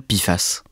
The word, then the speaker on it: PFAS: Émilie Torgemen, avant d'aller plus loin, expliquez-nous ce que désigne l'acronyme PFA que l'on prononce à l'oral Pifas.